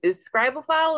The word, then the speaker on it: Scribophile: so you just mentioned something right there is scribal file is that how you say it yes okay